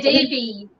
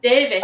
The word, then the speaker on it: Davis: They say Davies instead of Davis. Oh, Davies. Because it doesn't have an E.